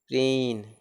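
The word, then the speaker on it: preen: में double E हो, जब किसी वर्ड में डबल ई हो तो डबल ई का उच्चारण ई होता है, जैसे पी R double E एन प्रीन, पी R double E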